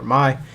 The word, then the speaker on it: Mei: And the next one, of course, is another Kage, the Mizukage, Mei or Mai, however you want to pronounce it.